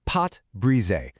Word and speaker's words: pâte brisée: It is called pot bre. Okay, let's just get the fancy French out of the way. It's pronounced pot bri, and the name itself literally means broken dough.